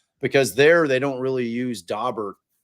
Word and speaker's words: Daubert: And I prefer the Daubert, the kind of the French pronunciation.